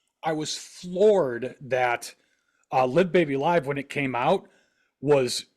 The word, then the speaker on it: Live Baby Live: Well, the very next year they put out this live album here, Live Baby Live. And that is how you pronounce it, boys and girls.